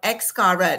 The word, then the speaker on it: Xcaret: It's called Excret. It's spelled X C A R E T.